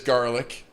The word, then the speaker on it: Garlic: It is, and it is garlic, just like it sounds.